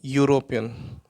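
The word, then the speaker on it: European: नॉट यूरोपियन, यूरोपियन इसको pronounce करते हैं यूरोपियन, तो ये आएगा।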